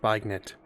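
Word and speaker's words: beignet: antagonize and you know poke the bear it's pronounced bagnet um and new orleans if you would kindly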